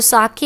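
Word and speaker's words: 酒: लिखा है कि इसे फा की तरह, फादर में जैसे हम फा पढ़ते हैं ना, उसकी तरह पढ़ना है और के को वे की तरह पढ़ना है। तो साके है ये एक्चुअल में इसका प्रोनाउंसिएशन।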